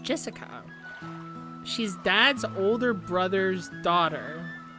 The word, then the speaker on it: Jessica: the same kind of weird name anyway it's pronounced Jessica she's dad's older brother's daughter that older brother